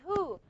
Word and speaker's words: who: So we don't care. This is a ha. We don't care about the W letter. I don't care about the W letter because I don't pronounce it. So how do I transcribe it? I say who.